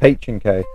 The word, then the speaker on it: H&K: No it's notk it's h K oh my god did I just saying the name wrong oh that's bad it's not ank at all it's a H&K it's H&K MP5 sd6